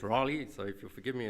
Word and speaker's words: Raleigh: in the united states it's not rally it's raleigh so if you'll forgive